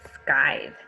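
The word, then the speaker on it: scythe: for this chapter is sky it's a little bit hard to say so that word sky the why in this word it's making a long I sound this is a noun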